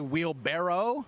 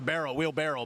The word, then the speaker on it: wheelbarrow: I saw this recently it's actually wheelbarrow right it's a wheelbarrow I thought it was a barrel wheelbarrow my whole life Barrow wheelbarrow wheel wait